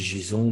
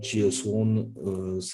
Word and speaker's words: JSON: Moi, je dis JSON, mais ça peut être JS1, enfin, vous prononcez ça comme vous voulez.